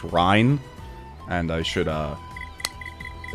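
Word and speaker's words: Reyn: now but shulk and rain are currently level 10 or sorry i should be calling him ryan people have uh told me his name is actually pronounced rine and i should uh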